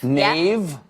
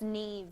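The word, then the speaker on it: Niamh: Does anyone know how to pronounce that in the audience? How? Taig. Taig? Yeah. Neve. What? Neve. Nave? Yeah. But it's Neve.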